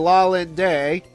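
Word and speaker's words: Lalinde: Anyway, at the restaurant, Doctors Light and La Linday, Linday, that's how the powers that be want to pronounce that name, they're also there, and they invite the agents to join them.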